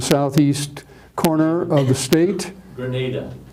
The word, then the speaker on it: Granada: corner of the state Grenada Grenada yeah well well I think of a grenade or something you throw but I'm using the Spanish pronunciation Grenada or Granada tomato tomato